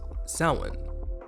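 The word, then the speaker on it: Samhain: It is spelled s a m h a i n and is pronounced sin.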